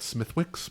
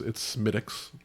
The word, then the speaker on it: Smithwick's: A lot of people will call it Smithwick's because that's how it smelled, but it's Smittix.